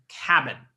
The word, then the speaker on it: KABN: have David lucat he is the CEO of cabin I'm assuming that's how you pronounce it it is K a BN that